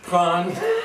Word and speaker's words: prends: You said NDS. What happened to those letters when you're conjugating the verb? You don't pronounce them. You don't pronounce them? Why not? Because it's French.